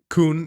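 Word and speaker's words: Khun: I think especially now that they showed him juxtaposed with the picture of Kun, or Khan, how do we say his name? Kun, yeah.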